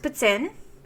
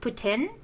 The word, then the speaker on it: poutine: It's French. It's a French word. It's pronounced putin. Um, okay. If you don't want to add the the super French accent, just putin.